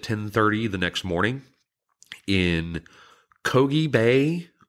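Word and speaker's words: Køge: the next morning in kogi Bay I've I I heard it pronounced several different ways but I'm going to say kogi KO g e kogi Bay southeast of amader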